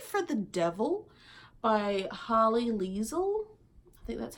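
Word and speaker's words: Lisle: we have sympathy for the devil by holly Lisl that's how you say it just look at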